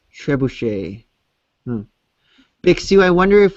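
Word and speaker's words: trebuchet: it says uh Tre buuck is typed catapult pronounced trebush big Su I wonder if we are getting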